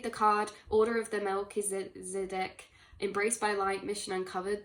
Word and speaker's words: Melchizedek: We have, is pronounced Melchizedek, whose name means King of Righteousness.